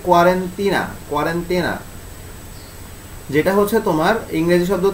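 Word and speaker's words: quarantena: এটার আসলে মেইন উচ্চারণটা এটা হচ্ছে ইতালীয় ভাষা, ইতালি থেকে উৎপত্তি। আচ্ছা, এটার মানে কি? এটার আসলে অরিজিনাল উচ্চারণ হচ্ছে কি কোয়ারেন্টিনা, যেটা হচ্ছে তোমার ইংরেজি শব্দ।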